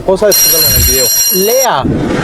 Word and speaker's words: leer: Lea. Se escribe leer, pero se dice lea.